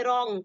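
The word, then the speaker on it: wrong: है यहां पे देखिए blue R ओ एन जी रा रंग नहीं पढ़ेंगे इसको क्या पढ़ेंगे रंग पढ़ेंगे क्या पढ़ेंगे रंग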